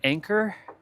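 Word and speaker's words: Anker: And funny enough, it's made by Anchor. But it's not spelled A N C O. Sorry. A N C O. Sorry. A N C H O R. It's spelled A N K E R. Anchor. Anchor and anchor.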